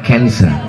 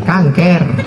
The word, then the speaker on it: cancer: dalam Jadi Kang kker tulisannya c a n c e r orang barat membacanya Cancer kancer Payah orang kita bilang Cancer kanker yang lagi pakai cus-cus